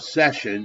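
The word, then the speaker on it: seisin: called the Covenant of session the Covenant of session is how it's pronounced now I will tell you the tests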